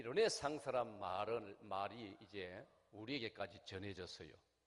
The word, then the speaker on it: 르네상스: 라틴어에서 이 르네상스란 말이 이제 우리에게까지 전해졌어요. 이 영어로는 발음을 하면 리나이상스. 우리는 원래 발음대로 라틴어 발음대로 우리 한국에서는 르네상스 이렇게 부르고 있습니다.